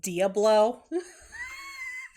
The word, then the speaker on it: Diablo: It's pronounced Diablo.